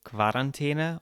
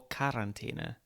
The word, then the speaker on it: Quarantäne: Another dispute that has come to the forefront is the correct pronunciation of the German word for quarantine. Is it Quarantäne or Quarantäne?